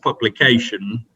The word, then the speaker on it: publication: can lead to your publication and the emphasis is on the first part of that word public your ideas and the